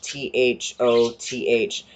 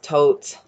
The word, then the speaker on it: Thoth: on that so the egyptian god that's name is spelled t-h-o-t-h we literally actually have no idea how to